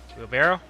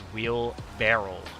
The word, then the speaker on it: wheelbarrow: just south like over here by this fence wheelbarrow and wheelbarrow you know the longest time random fun fact about Trevor I like always pronounced wheelbarrow as wheel barrel like with a r r e l at